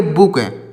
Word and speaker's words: book: तो अगर देखिए कहीं पर अगर डबल ओ लिखा हुआ है तो बड़ा ओ की मात्रा भी लगाई जाती है या फिर छोटा ओ की मात्रा भी लगाई जाती है। तो यहाँ पर जो शब्द लिखे गए हैं इसमें हम छोटा ओ की मात्रा लगाएंगे। जैसे BOOK, तो इसको पढ़ेंगे बुक।